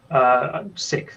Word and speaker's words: Sikth: Sixth. It's spelled Sikth.